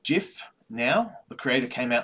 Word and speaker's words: GIF: and one of those is that it is pronounced jiff now the creator came out and said that